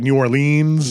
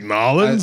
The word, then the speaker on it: New Orleans: I mean I guess the classic is New Orleans right some people people pronounce it New Orleans yeah some people like stereotypical is like noin like no it's not that no and I thought nins was the OG way and like the local like no you don't